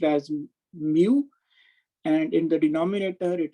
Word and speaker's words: mu: these two quantities which is termed as and pronounced as mu and in the denominator it is pronounced as epsilon so eta is given by square root of mu over epsilon so this is true for material